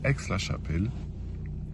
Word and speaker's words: Aix-la-Chapelle: Du coup, là, on est à Aix-la-Chapelle. Ça se prononce comme ça.